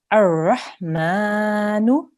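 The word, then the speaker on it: الرحمن: So here, like I said, we're going to start with an alif here, and we're going to put a fatha on this alif. So we will pronounce this ar-Rahmanu.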